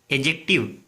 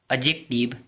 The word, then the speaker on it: adjective: जैसे ADJUST और ADJECTIVE में डी साइलेंट हो जाता है, क्योंकि प्रोनाउंसिएशन ट्रिक इस प्रकार है।